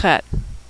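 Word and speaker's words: חית: That's a tricky one to pronounce because we don't have that sound in English. It's a throat-clearing sound like the German Ach, or the Scottish Loch, or like you're getting ready to hock a loogie.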